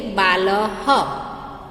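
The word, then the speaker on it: बालः: तो जैसे कि बाल के पीछे 2 डॉट्स विसर्ग लगा है, तो बाल ह, बराबर, उसको हम कैसे बोलेंगे? बाल ह।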